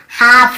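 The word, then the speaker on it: half: जैसे काफ, काफ, काफ, हाफ, हाफ, काफ, हाफ, एल को यहाँ पे नहीं पढ़ना, काल्फ, हाल्फ नहीं पढ़ना, काफ बछड़े को बोलते हैं, हाफ यानी आधा। L silent.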